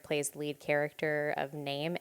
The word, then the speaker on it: Naim: I'm confused, but no, it's Hello, my name is Naim.